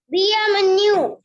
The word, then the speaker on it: bienvenue: And here also one thing, when we have IEN, pronunciation will be IA. When we have IEN, pronunciation will be IA. You can underline IEN and write IA.